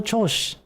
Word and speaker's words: 調子: Wait, does he not pronounce the I in Choshi? この調子でやってたら He 球技大会が終わ doesn't. っちまうな。 Kono Choshi.